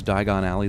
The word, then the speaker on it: Diagon Alley: The English pronunciation is a homophone of the name Ellie, hence this scene.